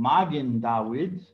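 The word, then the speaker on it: מגן דוד: called that it's called magen dawids in hebrew i'm using the academic pronunciation just so you know is a shield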